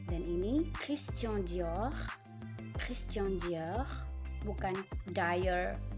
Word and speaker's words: Dior: Dan ini Christian Dior, Christian Dior, bukan Dior, no, Dior, Dior.